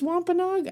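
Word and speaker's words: Wampanoag: Which I knew it was wampaog. I don't know why I chose to pronounce it like phonetically.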